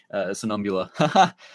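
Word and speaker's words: Somnambula: Like if we had actually seen Daring's adventure in the Sonumbula.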